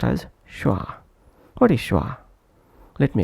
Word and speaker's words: schwa: Now moving on, let's understand schwa, pronounced as schwa.